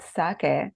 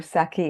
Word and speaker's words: sake: of this unique drink the word sake or saki as it's often Mis pronounced in the west is